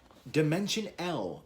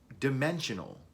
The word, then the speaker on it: Dimension L: to be looking at dimension l or dimensional i believe that's the way it's supposed to be pronounced uh by magikats so